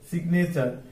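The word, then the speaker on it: signature: গেছে আলাদা হয়ে গেছে যার কারণে এখানে জিটা উচ্চারণ হবে সিগনেচার একই রকম প্যারাডিগম্যাটিক, এখানে ডিগম্যাটিক আলাদা উচ্চারণ হয়েছে, ডিগ আলাদা উচ্চারণ হয়ে গেছে।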